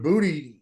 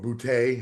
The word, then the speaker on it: Boutte: Well, and then also I think with Booty showing up, or Boutte, however you want to pronounce it, it's definitely taking a lot.